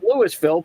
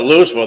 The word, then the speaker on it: Louisville: But of course, Louisville is spelled Lewisville. But if you call it Lewisville, people start having a stroke. You call it Louisville, they go, "You ain't from around here, are you?"